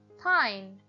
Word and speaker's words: pine: as the silent E makes the vowel say its name I Pine pin Pine the word Rob changes